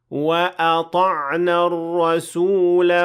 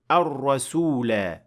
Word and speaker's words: الرسول: Here again, if I stopped at the word ar-rasula, I will have to pronounce the alif completely. But if I linked it to the next word, I will drop the alif and say وَأَطَعْنَا الرَّسُولَ وَقَالُوا without extending the alif or pronouncing it at all.